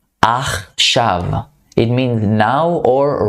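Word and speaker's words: עכשיו: Achshav. Achshav. It means now or right now. Achshav. So it's like two syllables.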